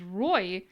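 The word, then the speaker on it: roi: the letters it is r o i which i would pronounce as roy which is king are you following wow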